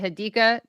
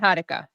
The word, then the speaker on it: Hadika: Is it Hadika? Is that the right emphasis? The second syllable, not Hadka. Hadika.